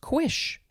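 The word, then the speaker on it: cuish: You could also spell it, and there's a different pronunciation for this, C-U-I-S-H, which would be pronounced quish.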